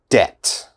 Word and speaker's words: debt: very difficult listen carefully debt debt okay which letter i don't pronounce debt this b never say debit or something like that it is debt d-e-t debt debt be very